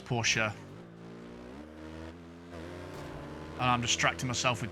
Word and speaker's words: Porsche: colliding with the barrier please no porsche just leave me alone no it's porsha and i'm distracting myself